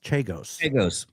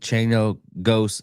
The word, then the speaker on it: Chagos: He will not let anyone else That mispronounced the Chagos. Chagos.